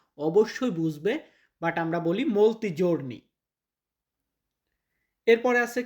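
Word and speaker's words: molto: এরপরে একটু দেখুন এই মৌলত শব্দটা ভিন্নভাবে উচ্চারণ হয়। যেমন অনেকদিন। দেখুন অনেক অসুস্থ অনেকদিন। তাহলে একই হওয়ার কথা। বাট অনেকদিন বলার ক্ষেত্রে আমরা বলি মলতি জোর্নি।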